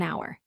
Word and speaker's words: hour: The fourth sentence is he waited an hour. This is correct because even though hour starts with H, the H is silent, so it sounds like a vowel.